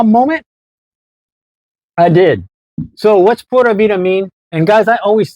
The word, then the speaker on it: Pura Vida: when I say it I always used to say Porta in my videos Porta Vida I have to think